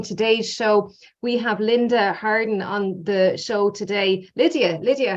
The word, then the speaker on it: Harden: We have Lydia Harden on the show today. Lydia Harden, sorry. No worries. Lydia Harden. That's how you pronounce it, isn't it, Lydia?